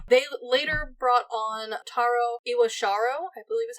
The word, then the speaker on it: Iwashiro: They later brought on Taro Iwashiro, I believe is how you say his last